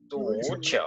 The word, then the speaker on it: 足球: 足球，足球，足也足 is a second tone, okay? 足，足球，足球。